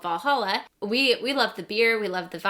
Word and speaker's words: Walhalla: Another thing that we picked up is this little bottle opener, and it looks like it says Walhalla, but it is pronounced Valhalla.